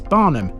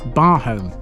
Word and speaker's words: Barholm: Interestingly, locals pronounced Barnum as Barnum, not Barhome.